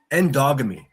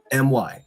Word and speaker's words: endogamy: It's called endogamy. I'll spell it for you. ENDOGAMY.